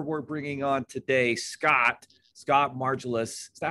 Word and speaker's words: Margolius: And the gentleman we're bringing on today, Scott Margolius. Is that how you say it, Scott? It's Margolius.